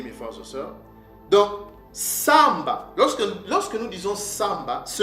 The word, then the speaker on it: Shabbat: Ce mot-là ne se prononce pas Shabbat. Nos pères ne l'ont jamais prononcé de cette façon-là, de cette manière-là. Mais nos pères le prononçaient Samba.